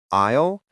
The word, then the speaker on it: aisle: I want to talk about two words that are pronounced exactly the same, but have completely different meanings. Isle and isle.